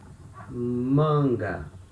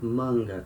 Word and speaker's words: manga: Sleeves can also be manga in Portuguese. So here we have letter A before letter N, and they are at the same syllable. So we have the nasal sound manga, samba, manga.